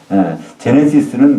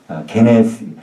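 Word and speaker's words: γένεσις: 제네시스는 그건 영어식 발음이고요. 그거를 그냥 읽으면 헬라식으로 하면요. 게네스예요. 게네스.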